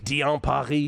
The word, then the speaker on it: Diane Parry: Diane Parry is how you really pronounce it.